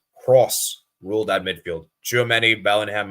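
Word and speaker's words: Kroos: It's pronounced Tony Cross, not Cruz.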